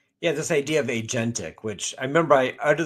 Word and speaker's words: agentic: I called it aentic. I mispronounced it too. Those people who said what is internet you know like 30 years ago. So I said agentic and I mean I